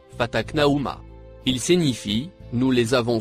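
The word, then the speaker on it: فتقناهما: Le mot écrit en marron que vous voyez se prononce fataknaouma.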